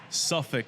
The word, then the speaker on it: Suffolk: How do you pronounce it? Right. Say it one more time. Suffolk Punch Brewing. Suffolk. It's like, that's a very southern thing.